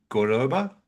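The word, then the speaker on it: Córdoba: I mean, you can see, I think the game on the weekend was in Cordoba. Did I Yeah, pronounce that right?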